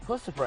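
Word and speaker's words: Puscifer: I'm sitting here with Maynard Keenan from Tool, Perfect Circle, and very soon, Pussifer. Yes, you did it right. Pussifer, I said it right.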